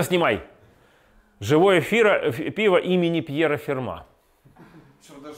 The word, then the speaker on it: Ферма: живое пиво имени Пьера ферма даже с ударением даже с ударением Чтобы не подумали что это ферма какая-то там например да Видите прямо